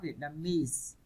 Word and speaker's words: Vietnamese: ESE hay hai chữ E các bạn, hai chữ O các bạn nhấn vào nó, Vietnamese.